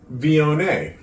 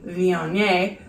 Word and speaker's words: Viognier: Okay, so do you want me to look up how to pronounce the type of wine it is? Viognier.